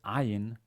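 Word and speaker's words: ayin: regular s then there's ayn which is pronounced by by um by many people at least in israel as a as an alif um originally one more like an iron so people of our arabic people who know arabic or or have arabic as mother tongue will pronounce this this letter in a more original way iron as a as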